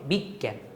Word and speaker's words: বিজ্ঞান: এই যে বিগ তারপর হচ্ছে জ্ঞান। বিগ জ্ঞান। একটা উচ্চারণ হওয়ার কারণে এই জফলাটা হবে। বিজ্ঞান তারপর উল্লাস।